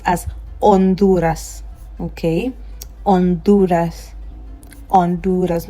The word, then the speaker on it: Honduras: H is silent in Spanish. So this word right here is going to be pronounced as Honduras.